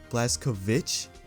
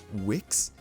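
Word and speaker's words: Blazkowicz: I'm almost certain it's pronounced Błaszkowicz because it's a Polish pronunciation, but people in game sometimes pronounce it Wix, but that can't be right. And I've heard people in the real world pronounce it Witz, Błaszkowicz. There's no T.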